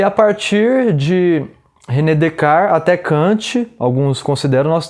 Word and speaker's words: Descartes: Cartesiano vem de René Descartes, que se escreve, Descartes, mas a pronúncia seria francesa, mais próxima de Descartes ou algo assim. E Descartes foi o responsável